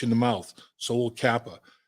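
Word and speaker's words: Cappa: offensive line, because, Collins, Kappa, Karras, 2 C's and a K, but the C's are hard C's. So phonetically, it all sounds like, that Collins, Kappa, Karras.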